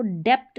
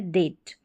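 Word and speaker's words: debt: आपको याद रखना है इसको डेप्ट नहीं पढ़ेंगे। बी यहां पर साइलेंट है। डेट।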